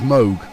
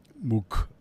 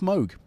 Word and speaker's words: Moog: It's Moog to rhyme with rogue.